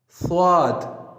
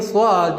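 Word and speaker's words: صاد: The difference is when you pronounce seen, you make whistle sound, and when you pronounce swad, the method to pronounce swad is you have to round your lips like swad, swad.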